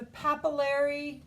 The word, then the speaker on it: papillary: here this is dermis the papillary rhymes with capillary reticular is particular because